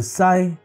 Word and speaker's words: psi: symbol psi, Greek letter psi, pronounced with p as silent.